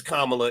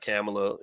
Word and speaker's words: Kamala: this okay so yeah it's kamla it's not camela you know let's pronounce her name right why not I mean